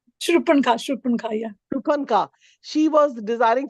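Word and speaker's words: शूर्पणखा: call, but yesterday I was mentioning that, like Supranakha, whatever name, am I saying it right? Surpanakha. Shurpanka, yeah.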